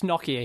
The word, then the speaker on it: Nokia: you know anyone anyway it's nakia here okay that's how we pronounce it my interesting question